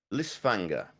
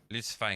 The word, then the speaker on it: Lysfanga: Lysfanga. Lysfanga.